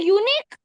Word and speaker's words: unique: So, unique starts with U, so and it has a U sound. It has a U sound, which is a vowel, so we have to use an. But, don't you think it doesn't have the sound of U? In fact, it has the sound of like yes, like Y.